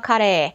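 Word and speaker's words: カレー: So this is actually called hamburger curry, or hamburger kare. That's how they say it in Japanese.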